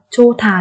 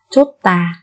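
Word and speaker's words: 좋다: Cái từ chô thà này, có nhiều bạn cứ đọc là chốt tà, nhưng không phải là chốt tà các bạn nha.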